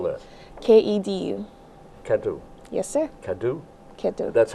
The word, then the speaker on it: Kedu: It's like hola, but it's kedo. Kedo. Kado? Yes, sir. How do you spell that? Kedu. Kadu.